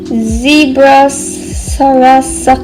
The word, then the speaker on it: Sarasa: I got this the zebra sarasa clip. That's how you pronounce it.